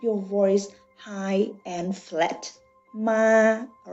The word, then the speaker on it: ma: I have the word ma. That means you see the yellow line. Okay, the yellow line. Let's see. Listen to me. Ma, ma, ma.